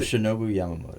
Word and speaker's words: Yoshinobu Yamamoto: Yeah, Is Yoshinobu Yamamoto.